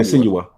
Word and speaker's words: Senua: Senua. I like that. That how you say it. Senua. Yeah. Senua.